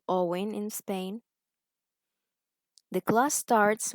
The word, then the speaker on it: Eoin: She says Eoin, but the correct pronunciation is Owen.